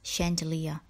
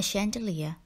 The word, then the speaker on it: chandelier: pronunciation of this word although this word starts with the chip sound it is pronounced with the ship sound do not spell chantilly